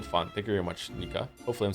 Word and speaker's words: Nika: If you're wondering, my name is pronounced like like Niko but with an a sound instead O. Nika Niko Nika.